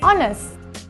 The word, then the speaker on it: honest: lot of and plenty use and before words that start with the silent h these are nouns like our and air and the adjective honest so we say an hour an air and an honest person do not use an